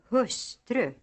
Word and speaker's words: hustru: Hustru, långsamt, någon, smörgås. These words are written as hustru, långsamt, någon, and smörgås, but pronounced, using accent 2, with the second syllable almost as loud as the first.